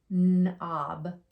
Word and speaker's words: knob: So in all these words, you didn't hear me say the K sound. I skipped right over the K and go right to the N. The K is quiet in those words.